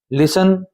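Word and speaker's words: listen: लिसन इसमें T silent है। टी का उच्चारण नहीं होता।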